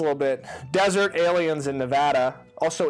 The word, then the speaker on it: Nevada: experience less a little bit desert aliens in Nevada also it's called Nevada if you pronounce it in Nevada you're wrong Nevada Nevada